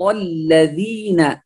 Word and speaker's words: الذين: يقول الذين أنعمت عليهم، هذا حرف زاي ليس ذال، فنقول صراط الذين، الذين الذال يخرج من هنا، نخرج اللسان قليلا فيأتي لنا الذال، نقول الذين، الذين من طرف اللسان مع أطراف الثنايا العليا، هنا نراعي مخرج الذال، لا الذال هنا ليس زاي، الذال حرف له مخرج وله صفة، يعني يختلف عن الزاي كثيرا، فنقول الذين، واللام هنا